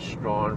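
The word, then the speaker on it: Strachan: say it St St I don't know how you get Strawn from what looks like stretch and some guy's name well it said 10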